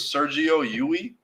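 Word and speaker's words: Sergio Llull: I think his name was Sergio Yui. It's like double L, but it's Spanish, so double L is pronounced with a Y.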